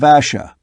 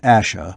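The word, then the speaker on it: Ashe: am a kin of asha we return to the hill ash not asha but ash ross though sure of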